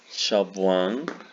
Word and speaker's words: Siobhan: And here is the pronunciation, no? Siobhan, Shabwan, Patrick, Patrick, Naim, Naif.